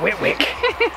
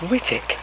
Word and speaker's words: Whitwick: It's not Whitwick. it is if you spell it. It looks like Whitwick, but I think Whitwick. It's pronounced Whittick.